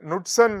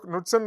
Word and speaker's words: Knudsen: Okay, they define a number, Knudsen number, and that is lambda divided by d. K is silent usually, Knudsen number.